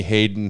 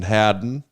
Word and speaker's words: Hadden: introduction here this is don't call me hayden hadden of pioneer belts um